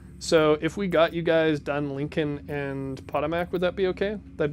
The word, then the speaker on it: Potomac: Potomac, that's how you pronounce it.